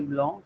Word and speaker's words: blanc: example, the word for white is blanc. C is silent at the end. For example, le chat est blanc.